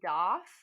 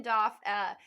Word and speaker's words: Doff: pronounce this wrong, Ninian Doff. And I thought it said Duff at first when I saw the credits, and I was like, "Oh, I claim this.